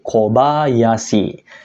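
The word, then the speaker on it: 小林: kehutanan contoh yang ketiga kalau dia digabung dengan kanji ko anak ya minasang dia menyatakan nama orang nanti nama keluarga ya yaitu kobayasi Saya rasa kalian pernah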